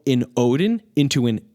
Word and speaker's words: Odin: At the point in history when Wednesday emerged in Middle English, the Scandinavian theonym for the English Woden was being pronounced Odin.